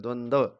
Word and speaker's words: द्वंद: की जाने वाली आवाज़] उच्चारण है इसका द्वंद। द के पैर में र है और वह पूरा है। द आधा है। जो पैर में होता है वह पूरा होता है।